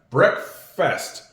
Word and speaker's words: breakfast: Breakfast kind of sounds like it's fest. And it is breakfast, but we spell it with an a.